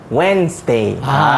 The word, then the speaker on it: Wednesday: Sorry, I do silat on Wednesday. That's the correct pronunciation for Wednesday.